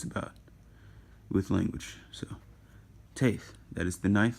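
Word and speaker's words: טית: And Taith is pronounced like a strong T, like t, not just a normal T.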